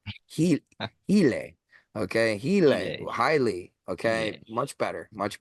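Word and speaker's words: ὕλη: back to Neoplatonic philosophy when they said highly, right? Highly matter. A lot of people say hule, but fuck them. I hate the anglicized pronunciation of Greek words.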